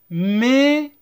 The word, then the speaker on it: maison: De la maison. AI se prononce E. ON. S entre deux voyelles se prononce Z.